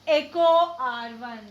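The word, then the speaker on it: EcoRI: So how to pronounce it? Echo R1. So the name of the enzyme is Echo R1.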